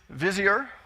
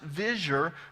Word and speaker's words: vizier: that right and you've probably heard it as vizier most people in oklahoma do it that way but i'm going to pronounce it visure because that's how the professors at jbu pronounced